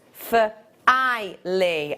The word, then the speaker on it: Filey: like nail file e filey filey oh so it was neither finally pronounced for i lee oh i love that